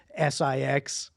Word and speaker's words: VI: Maybe you have it's SIX. It's spelled VI and pronounced SIX.